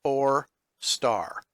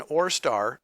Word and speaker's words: ORESTAR: in your Google search or star so you see how that's spelled up there oh re STAAR just type in or star in Google and hit